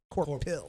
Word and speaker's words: Corpil: Corpil. Hill. It's actually spelled with a Corporal. K. No, it's C now. right.